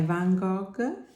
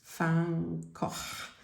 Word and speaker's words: Van Gogh: collection, but it's by Van Gogh. Now I know that I don't pronounce it right. I think it's Van Gogh, the correct pronunciation, but it's a bit difficult for me.